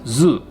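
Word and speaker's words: ず: marks is pronounced ji and su with ten ten marks is pronounced zu these are pronounced the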